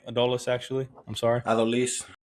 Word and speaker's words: Adolis: How do you say Adolis, actually? I'm sorry. Adolis.